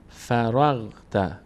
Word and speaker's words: فرغت: اینجا حواسمون باشه که این غینی که در این کلمه فراغ ت هست این غین چون این ساکن داره بالا سرش ساکن هست به کمک ما قبلش باید تلفظ بشه چون حرکت نداره خودش به این شکل مثلاً